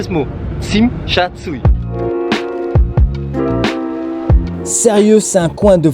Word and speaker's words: Tsim Sha Tsui: Je me suis entraîné depuis 2 h du matin jusqu'à maintenant, qui est 8 h, pour prononcer ce mot. Tsim Sha Tsui.